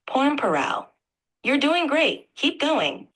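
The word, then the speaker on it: Pormpuraaw: don't know it's a place the word is pronounced porn paral you're doing great keep going pn paral a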